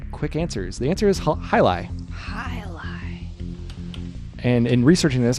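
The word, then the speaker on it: jai alai: from everybody good quick answers the answer is hi lie hi and in researching this I've always wanted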